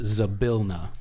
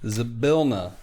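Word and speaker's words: Zybilna: see why I spell it again z-y-b-i-l-n-a it's pronounced zabilna zabilna the Fey what queen the arch [ __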